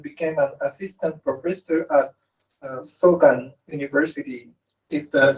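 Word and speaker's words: Sogang: In 1992, he went back to Korea and became an assistant professor at Sogan University. Is the pronunciation correct? Yes. Sogan, okay.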